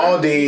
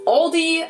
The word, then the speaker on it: Aldi: In English, people usually pronounce this Aldi. I think I've also heard Aldi before, but I think most people say Aldi. Or they also sometimes add an S that isn't there in the end and say Aldis.